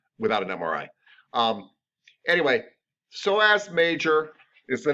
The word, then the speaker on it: psoas: so as but it's not it's spell it's pronounced so as major and that muscle goes along with the